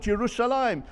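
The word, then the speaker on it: ירושלים: On 669 occasions, it is mentioned in Tanakh, spelt Yerushalayim without the yud before the final mem, but we pronounce it Yerushalayim, whereas everyone else calls it Jerusalem, Yerusalem in the singular.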